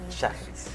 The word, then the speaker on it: Shajris: Primera pregunta, ¿cómo se pronuncia tu apellido? Charriz. Excelente.